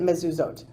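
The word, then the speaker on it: מזוזות: Meaning in the Torah, it appears as a singular, like mezuzat, but we pronounce it mezuzot.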